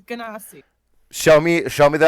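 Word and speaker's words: Genasi: for saying it wrong oh she do the hard G doesn't she gasi shame it's always been a gasi until I met you how do yall pronounce it J but that's I don't know I could be horribly wrong you are horribly wrong it is ganasi show me show me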